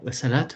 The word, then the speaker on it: salat: écoute euh bah alors je sais pas comment on prononce Sala la salade la prière salate faut prononcer le le T excuse-moi et donc il